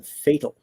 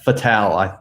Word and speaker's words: Fatale: If not, please tell her I appreciate her work on Fatal. Is it Fatal or Fatale? Fatale, I think Fatale. It's pronounced off of Femme Fatale.